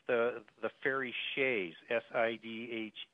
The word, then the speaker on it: Sidhe: But if you talk about fairy mythology, it's the fairy shays, Sidhe. It's pronounced different than what it's spelled, and those are portals.